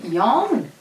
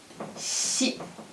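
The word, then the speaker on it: 四: 4 se dit yon ou shi. Et c'est pourquoi c'est le chiffre qui porte malheur en Asie, au Japon aussi. Donc, 4, c'est à cause de cette prononciation qui sonne comme le verbe mourir.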